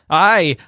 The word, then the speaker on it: hay: The word "ay" in Spanish is spelled Hay. It sounds like the English word "ay" for yes, but what it means is there is.